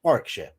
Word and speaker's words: Warwickshire: when the corner for me is Warwickshire which is spelled Warwickshire but it's Warwickshire say it in American aluminum no you it's